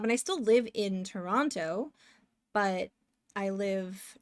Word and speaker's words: Toronto: people who are in Toronto um we butcher the pronunciation of it so we'll say Toronto um but yeah torana yeah there's Marty there's